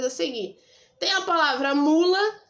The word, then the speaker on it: mula: Você vai chamar a palavra, você vai dizer mula. Qual que ficou mais tempo? O mu. Então, o mu é a sílaba tônica.